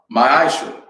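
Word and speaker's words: מעשר: Means tenth in Hebrew and is pronounced ma'asher.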